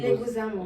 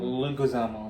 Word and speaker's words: Leguizamo: Johnny Leguizamo. Leguizamo. Leguizamo.